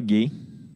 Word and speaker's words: guerre: encore une fois la guerre la guerre voilà effectivement alors faites attention liliana parce que si on l'écrivait avec un chu ont le prononcerait plus gai donc on ne peut